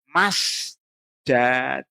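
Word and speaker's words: مسجَد: Ya, fil ardhi di tanah ya fainnahu bil fathi lahair. Maka bacanya harus masjadun.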